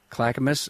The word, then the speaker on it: Clackamas: Clackamus, Oregon.